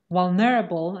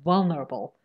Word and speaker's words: vulnerable: that for example bizarre said vulnerable and i said no vulnerable the stress is on the first syllable what does stress mean